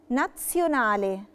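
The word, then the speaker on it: nazionale: جالي الحرف ده ما بين اتنين حروف ساكنه بنطقه تس. تس في تي قبليها، مثال عليها كلمة ايجيبسيانو. ايجيبسيانو، ايجيبسيانو يعني مصري. ناتسيوناله، ناتسيوناله يعني دولي.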